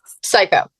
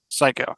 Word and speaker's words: Psycho: single lip mosh with is it pronounced psycho or pyo psycho psycho okay um how' you guys